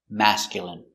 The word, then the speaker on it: masculine: Pronunciation: masculine. Mm. Smass. C-mask. Y mask. Y mask. Mask. mascul mascul mascul masculine masculine masculine stress on the first syllable.